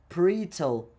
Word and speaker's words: parietal: lobe, the temporal lobe, and the parental, or not the parental, but the parietal, parietal lobe. I think that's how it's pronounced.